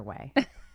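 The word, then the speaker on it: OUAI: that's so funny so no one knows how to say it because it's o u a I so I always called it we but it's way and I first bought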